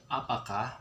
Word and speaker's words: apakah: And how you pronounce it, it would be apakah, which means do you.